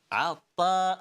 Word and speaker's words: عطا: عطا عطا ta طا. There's a difference between both of these letters. If you pronounce طا a bit lightly, it will sound like ta, which is a complete different letter.